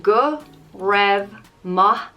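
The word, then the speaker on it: go raibh maith agat: done that next is guru mahakat and it means thank you it translates to may you have goodness on you but it just means thanks it's pronounced go rev ma and as i said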